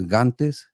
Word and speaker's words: Gantes: in Mexico uh it's my last name is gantes that's how my family pronounced it and so originally there